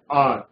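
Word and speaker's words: hour: आर। भले ही इसकी शुरुआत एच से हो रही है लेकिन इसका जो उच्चारण है उसकी पहली ध्वनि अ की बन रही है, तो I only have N आर for lunch.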